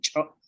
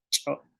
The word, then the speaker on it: ch'o': Y en con la cha, con cho, cho, cho, ratón, cho.